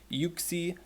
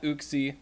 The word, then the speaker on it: Uxie: is coming out tomorrow and yes it is pronounced you see not you see look it up I'm gonna make this joke